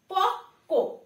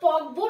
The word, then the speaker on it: পক্ক: প্রথমেই রয়েছে পক্ক, এটা কিন্তু পকবো না, ঠিক আছে? কয়েল নিচে ব ফলা রয়েছে তাই আমরা পকবো উচ্চারণ করব এমনটা কিন্তু নয়।